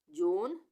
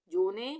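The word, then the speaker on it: zone: उसी तरह से 5, जोन, लेन, इन सब वर्ड में ई का उच्चारण नहीं आएगा। इसको कभी भी गलती से हम 5वे, जोने, लेने ऐसे नहीं पढ़ेंगे। 5, जोन, लेन।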